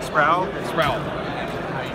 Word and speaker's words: Sproule: Sproule. The E is silent.